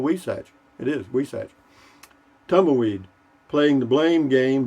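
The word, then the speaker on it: huisache: these things me m-e-e i've always wondered how something spelled we satch is pronounced we sag yeah i know h-u-i-s-a-c-h-e i'll hear you at least that's how that thorny bush is pronounced in southwest houston nice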